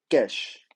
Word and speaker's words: cache: तो ये है कैश। कैश, ठीक है। कैश, काश, अलग अलग लोग अलग अलग प्रोनाउंस करते हैं।